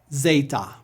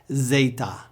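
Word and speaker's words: zeta: Epsilon e Epsilon e zet it's just like our English Z say it with me zet Z zet Z AA this letter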